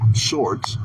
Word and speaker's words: swords: Swords. Swords. Are you saying the W? No, I missed it. Swords. Yeah, I got my sword. Um, you don't have to pronounce the W.